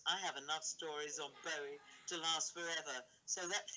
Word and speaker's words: Bowie: It's pronounced Bowie, by the way.